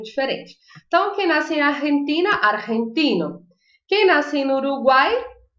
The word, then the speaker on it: argentina: empina empina a frente a nacionalidade não é diferente mas a pronúncia é diferente e não é uma pronúncia muito fácil eu quero que vocês tem que falar aí de casa argentina argentina porque não é uma promoção que faço porque ela desce pronúncia que mistura o r com o j são do j ou g aqui na garganta estava dizer ar sem